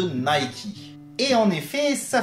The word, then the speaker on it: Nike: chaud tout est là où l'on prononce nike en france les anglais auront plutôt tendance à parler de nay qui est en effet